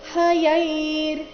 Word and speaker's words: ಹಯೈರ್: ರಕಾರ ಶ್ವೇತೈರ್ ಅಧಿಕ ಹಯೈರ್ ಹಯೈರ್ ಹ ಯೈ ಆದ ನಂತರ ಮತ್ತೆ ಅರ್ಧ ರಕಾರ ಇದೆ ಹಯೈರ್ ಅಧಿಕ ಯುಕ್ತೆ ಯುಕ್ತೆ ಅಲ್ಲಿ ಯು